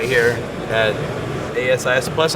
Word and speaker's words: ASIS: him right here at Asis plus I learned how to pronounce it I think on on previous podcast I said can't as is because they worri about Isis right the term yeah so once and